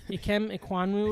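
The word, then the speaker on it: Ikem Ekwonu: Ikem Iquanwu or whatever.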